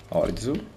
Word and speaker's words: Orizu: Orizu, sì, si pronuncia così. Orizu.